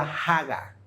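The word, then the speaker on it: הגה: Pero miren, la palabra meditar en el hebreo es una palabra que se pronuncia haga, así se pronuncia y ilustra la imagen de un perro rollendo un hueso.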